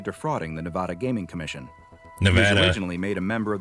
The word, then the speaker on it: Nevada: the nevada gaming commission nevada originally made a member of the foundation's club it's pronounced nevada not nevada oh my god class